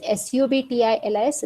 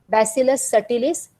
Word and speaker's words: Bacillus subtilis: Even though it is subtilis, B is silent, so this Bacillus subtilis. Bacillus cereus, it is never read as cereus. It is cereus, so Bacillus cereus, Bacillus subtilis, Bacillus clausii, and Bacillus halodenitrificans.